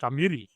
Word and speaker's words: Amiri: Am I pronouncing your surname correct? Amiri.